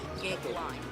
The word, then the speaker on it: Goeglein: Phonetically, it's Gigline. Goeglein.